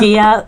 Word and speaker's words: Gia: Is it Gila or Gia? Gia.